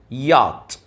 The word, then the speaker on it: yacht: bus, bus, van, van, train, train, car, car, rocket, rocket, truck, truck, bicycle, bicycle, motorbike, motorbike, yacht, yacht. وطبعا ال CH هنا silent لا تنطق في الكلمة دي.